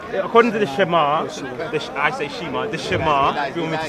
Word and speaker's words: Shema: The Shema.